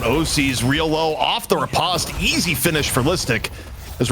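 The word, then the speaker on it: riposte: Repost or Ripost? Repost. Why repost? I just I've never heard anyone pronounce it ripost like I've never heard I No one's you've never heard someone call repost. No, not ryost. You said ripost.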